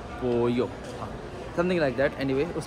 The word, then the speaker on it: pollo: Double L Spanish में जे या Y pronounce करते हैं, डिपेंड करता है सिचुएशन पे। इतना मुझे समझ में आया मेदेलीन, जैसे पोयो होता है, POLLO होता है, तो पोलो में पढ़ता था पहले,